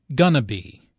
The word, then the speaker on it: going to be: Notice how this is pronounced like gonna be. Instead of 4 syllables, going to be, there are 3 syllables, gonna be.